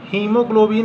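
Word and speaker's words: haemoglobin: हीमोग्लोबिन है तो हीमोग्लोबिन में भी आपका ए यहाँ पे क्या है, साइलेंट है।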